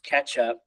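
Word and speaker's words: k3sup: so K su3 sub so pronounced ketchup according to their doc it is that is correct they tell you to pronounce it Ketchup but it also lets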